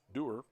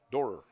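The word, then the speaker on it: Dohrer: Madden Derer. Dorer, I should say. Madden Dorer. D O H R E R pronounced Dorer.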